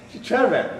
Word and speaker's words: Chervin: Chervin.